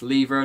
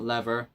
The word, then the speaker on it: lever: And yes, lever, not lever. It's pronounced lever, get over it.